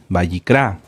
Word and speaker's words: Vayikrá: kilo r a bicra bicra lleva acento en la a en la última A bicra qué libro es